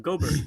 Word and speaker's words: Gobert: Gobert like Hubert.